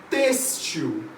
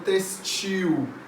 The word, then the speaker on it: têxtil: sílaba tônica no látex têxtil já ouvi muita gente falando têxtil não a pronúncia correta da palavra é têxtil é sutil algumas pessoas